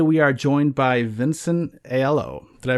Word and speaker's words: Aiello: All right, today we are joined by Vincent Aiello. Did I pronounce that right? Normally it's Aiello, but that's fine. Yeah, close enough. Aiello.